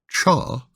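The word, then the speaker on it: 茶: two this written character which is pronounced as cha symbolized the way te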